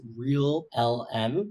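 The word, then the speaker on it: ReALM: announced their latest system it's called real LM so that's spelled r a l m and apparently app performs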